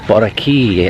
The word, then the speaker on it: Boracay: So it's Monday morning and I'm on the beach on Bulabog Beach in Boracay, or Boracay as the locals say.